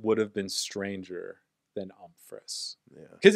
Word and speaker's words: Umfress: I mean, it gets butchered quite a bit, but really? I mean, that's just fun. You know, Umfries, Umfresh. And then people will blatantly just go Humphreys.